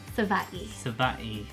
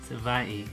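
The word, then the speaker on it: Savai'i: Yep, and then we went to the other island, Savi. Is that how you say it? Sava'i. Sava'i.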